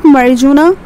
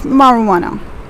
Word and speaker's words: marijuana: over here it's marijuana marijuana it's not marijuana we're going to put our stress over here that's marijuana jay is silent over here the next term is